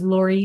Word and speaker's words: Lori: Like I said, my name is Lori Stevens rhymes with story.